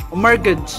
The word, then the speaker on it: mortgage: Wrong, it's mortgage. Ah, mortgage. Yung mortgage. Ah, yung T pala yung silent. Mortgage. Walang T.